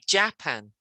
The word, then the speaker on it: Japan: japan and japan yeah because a lot of countries say japan and we don't we put the stress on the second syllable so it's japan japan that's right and how